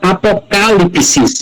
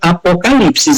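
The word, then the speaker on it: ἀποκάλυψις: nós vemos aí que quando nós encontramos a letra capa junto com a letra alfa, nós vemos aí que ela é a sílaba tônica, portanto a expressão é apocalipsis e não apocalipsis em grego.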